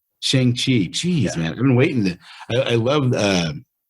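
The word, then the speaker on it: Shang-Chi: ShangChi. ShangChi.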